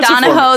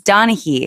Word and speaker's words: Donaghy: I think it's Donaghy, like Jack Donaghy.